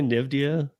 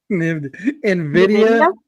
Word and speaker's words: Nvidia: Would I say Nivia? Nvidia.